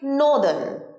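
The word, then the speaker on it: northern: সাদান তেমনি নর্থ দিক কি হবে উত্তর দিক নদান নদান ক্লিয়ার আশা করি এই শব্দগুলো তোমরা আর ভুল উচ্চারণ করবে না খুব স্মার্টলি এগুলোর কারেক্ট প্রোনাউনসিয়েশন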